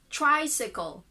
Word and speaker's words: tricycle: So K and L. There is no vowel sound still. So k. From K to L. K. Tricycle. Tricycle. That tricycle. First syllable, the stress.